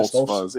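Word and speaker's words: Stoltzfus: That guy, Dustin Stolfus, I believe you pronounce it. Stolfus, yeah, something like Stolfus, that.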